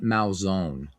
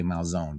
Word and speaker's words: Malzone: It is, so in Italian, there are no silent letters. It is Malzone, not Malzone. And in Americanized Italian, you would say Malzone, but it's Malzone. Malzone. So the E is pronounced like an A.